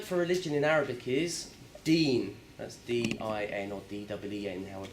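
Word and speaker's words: دين: is the word for religion in Arabic is deen, That's D-I-N or D-E-E-N, however you want to spell it.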